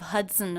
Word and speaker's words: Hudson: did you notice how the second and unstressed syllable of Hudson and it was pronounced it's written with the letter O but there's the schwa vowel in there as an unstressed syllable it's very fast sunson and when the schwa is followed by the end you don't need to worry about making a separate schwa sound it gets absorbed by